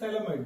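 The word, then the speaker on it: Phthalimide: This is थैलामाइड बेटा। This is known as PH is silent थैलामाइड।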